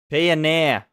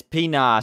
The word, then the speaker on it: Pinar: Pioneer. It's Pinar, sorry, I keep getting his name wrong.